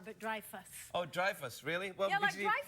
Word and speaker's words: Dreyfus: name Julia Louie Dreyfus it's not Dreyfus where is it the Dreyfus Dreyfus yeah like drive a car but Dreyfus Oh Dreyfus really welcome